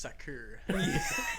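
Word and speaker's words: Sackr: American Civic renewal right so sacker right s-a-c-k-r right so it's basically just a little group soccer dude that sounds like I didn't name it would you tap your homies yeah it's pronounced sucker yeah it's fresh it's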